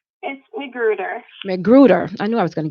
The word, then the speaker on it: McGruder: to Valencia right now macGruber macGruber macGruber I know I'm saying it wrong she's gone correct me go ahead go ahead Valencia correct me say the last thing for him McGruder I knew I was